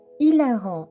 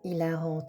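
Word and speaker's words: hilarant: Ilarant. Ilarante en rajoutant un e. Attention, dans le cas dearant, le H ne se prononce pas.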